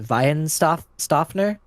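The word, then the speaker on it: Weihenstephaner: I think it's pronounced Weihenstoffner.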